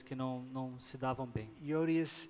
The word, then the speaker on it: Euodias: Euodias and Syntyche is how they're pronounced in English.